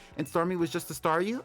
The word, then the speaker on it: Staryu: Starmie was just a Staryu, I could never pronounce its name right. I always end up calling it, Saw You.